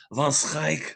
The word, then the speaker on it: Van Scoick: michael van van scoick which is pronounced von strike over in holland it's a dutch name but everybody knows me